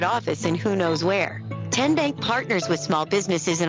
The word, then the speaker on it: TN Bank: you enroll wildcats role how do you say the name tn bank nope tin bank uh-uh so what is it ten bank ten as in tennessee right here where all